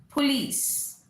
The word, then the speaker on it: police: Police. Police नहीं, police. POLICE.